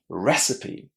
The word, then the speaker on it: recipe: Recipe. Which syllable is stressed? Recipe. The first one.